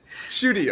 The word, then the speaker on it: Schutte: Is that how you pronounce it? I didn't ask you for it. Shooty. Schutte, okay.